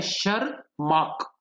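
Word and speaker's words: Tschermak: Spelling गौर करेंगे, T silent है, शरमार्क।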